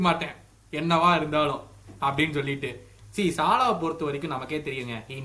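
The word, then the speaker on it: Salah: சாலாவை பொறுத்த வரைக்கும் நமக்கே தெரியுங்க, he needs 10 chances to score 2 goals. அதுதான் சாலா. அது நம்ம எல்லா சீசன்ல நம்ம பார்த்திருக்கோம். சாலா இல்ல, நம்ம தப்பா ப்ரொனவுன்ஸ் பண்ணோம்ல, சலா.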